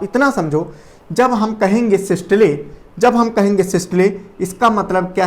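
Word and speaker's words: systole: भले ना पढ़ा हो, सिस्टोल, और एक होता है डायस्टोल, ठीक है। ये तुमको समझ में आया, इस वजह से मैंने सिस्टोल और डिस्टोल बोला। इसका करेक्ट प्रोनाउंसिएशन होता है सिस्टले और डिस्टले, ठीक है।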